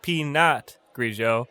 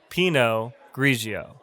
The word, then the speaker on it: pinot grigio: we have pinot grigio pinot grigio not peanut grigio it's pronounced pinot grigio i'll take a glass